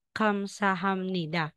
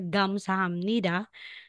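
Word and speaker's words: 감사합니다: ka kaya nga merong Kamsahamnida so hindi po siya gamsahamnida Kamsahamnida kapag po nalagay po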